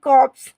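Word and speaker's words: corpse: English होती है वो होती है कॉप्स क्या बोलेंगे कॉप्स आर जो वर्ड है आपका साइलेंट है नेक्स्ट है आपका कॉर्पस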